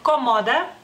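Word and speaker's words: komoda: En lituano es cómoda. Cómoda, las dos os son cortas, no es una palabra propia del lituano, obviamente es una palabra prestada, por eso la tenemos en común.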